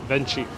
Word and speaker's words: Venchi: grape gelato thank you or if you pronounce it the very american way venchi is there a flower